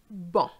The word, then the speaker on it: bon: There's two words I can think of where the C is silent, tabac, and bon, bon. Je répète, tabac, bon.